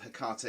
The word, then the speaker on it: Hecate: the Scrying Stone of Hecate. Now, first of all, I realise that the usual pronunciation of Hecate is Hecate or Hecate. I don't like that, so it's Hecate for this evening.